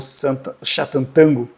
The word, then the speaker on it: Sátántangó: Mas por que que eu te desafio a ler o tango de Satã ou Satanango, como é a pronúncia correta no húngaro, ou tango, como a